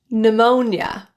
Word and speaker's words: pneumonia: For P, when a word begins with P and another consonant, it typically is silent.